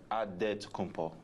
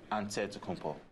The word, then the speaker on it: Antetokounmpo: into the spelling of Giannis Antetokounmpo's last name. He helped set the record straight of how you pronounce it. The Nigerian way, you gotta say with a D, so it's Antetokounmpo.